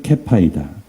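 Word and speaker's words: כֵּיפָא: 어떤 단어냐면은 게바입니다. 근데 원래 발음은 케파입니다. 예. 그래서 이 문장을 아람어로 예수님께서 사용하셨다고 보면 이런 말입니다. 너는 케파이다.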